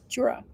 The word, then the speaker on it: Tura: She says it's pronounced like pure, but with a T. Tura.